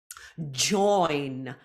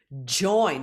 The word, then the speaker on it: join: practice that several times join join for that J sound the tongue is a bit tense and is quite voiced J for join World we've seen this